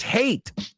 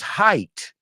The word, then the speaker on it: height: my students said, "Uh, my daughters hate and I was like, what?" And we were talking about rides and I said, "Oh, wait, wait, wait. Your daughter's height. Okay. Okay. Height. Hate. Right.